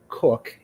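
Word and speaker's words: Koch: Um that that person's name is Michael Anthony Cook. It is spelled K O C H.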